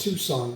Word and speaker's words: Tucson: Tucson Temple Tu Tucson yeah in Arizona it's pronounced Tucson Tu yeah it looks like Tu but it's